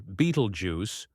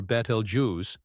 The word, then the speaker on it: Betelgeuse: Betelgeuse, pronounced either Betelgeuse or Betelgeuse, is a red supergiant located approximately 642 light-years away from Earth in the constellation Orion.